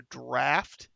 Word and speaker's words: draught: She called it a draft. Is that Draught? Is that how you pronounce that word?